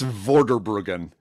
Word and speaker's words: Vorderbruggen: Mark, yeah, there's no, there's no right or wrong way, but usually it's Vorderbruggen. You just start at one end and go all the way to the other.